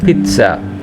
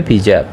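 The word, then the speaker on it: pizza: পিজ্জা পিজ্জা ইতালিয়ানরা বলে পিচ্ছা ইতালিয়ানরা বলে পিচ্ছা আর বাংলাদেশিরা বলে পিজ্জা পিজ্জা কিভাবে উচ্চারণ করে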